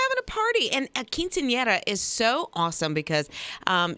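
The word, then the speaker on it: quinceañera: Kara I love that I can't pronounce it I don't know how to pronounce it I actually called my daughter last night and I was like let's make sure I can say it Quinceanera Quinceanera right it's a girl's 15th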